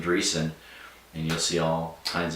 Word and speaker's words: Dreesen: DREESSEN. The S is silent. All of it's silent. I never say it.